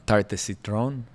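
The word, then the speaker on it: tarte au citron: My wife keeps telling me say it right. It's the tarte de citron.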